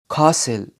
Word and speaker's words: castle: مش بننطقه بعض الكلمات زي الكلمات دي often castle، وزي كلمة watch watch.